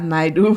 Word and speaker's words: Naidoo: to nicknames, her name is and pronounced Talia Saraya Naidoo.